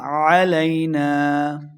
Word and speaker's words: علينا: اللہ الرحمن الرحیم۔ وما علينا إلا البلاغ المبين۔ وما علينا، علينا عین کا لفظ پڑھیں گے علينا، نون زبر الف